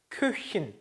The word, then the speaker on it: Köchin: 오에 umlaut 찍혀 있죠. 그렇죠? 그렇죠? 오 해봅시다. 자, umlaut 발음 해봐야 되죠. 입 모양 동그랗게 그쵸? 오 소리만 이를 내니까 그쵸? 그래서 Küchen 이렇게 합니다.